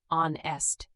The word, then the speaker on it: honest: Silent H at the start of some words. Honest, honor, hour, heir. Honest, you say on-est.